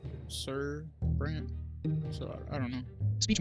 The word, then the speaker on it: Brante: I'm pretty sure that's how it's supposed to be pronounced, Brant, not Brandy.